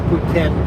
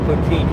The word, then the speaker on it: poutine: I think proper pronunciation is Putin but we always call it poutine here if you live